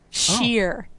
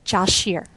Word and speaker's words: Shear: Julian Grim who has informed me thankfully how to pronounce his last name Shear Josh Shear sorry Josh for mangling it I'll do better now Josh Shear okay Josh says the rest